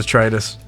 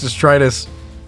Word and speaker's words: detritus: I'm pretty sure it's the Tritus. That's no way that's how you pronounce that. What the hell is a Dietrich? You know, it said mechanoid Dietrich. I'm nearly certain it's detritus.